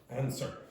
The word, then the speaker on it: answer: Next one then, answer. Say that again? Answer. Yeah, exactly. So don't pronounce the W.